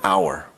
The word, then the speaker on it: hour: words hour and university while our starts with an h it actually sounds like it starts with a vowel sound the resulting sentences are i'll be there in an hour again that's an hour